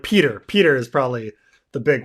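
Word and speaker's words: Petyr: we're gonna or like peter peter is probably the big one right peter baelish right we say peter because peter is a real name but roy de tris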